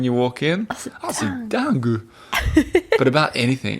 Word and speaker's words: dingue: Another funny one that means crazy that I like a lot is dingue.